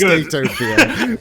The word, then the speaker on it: Skatopia: I'm aware it's pronounced. I'm aware it's Skatopia.